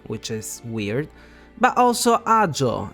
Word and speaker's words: Agio: jpe not jpe which is weird but also AO not AIO which technically it's not even a name it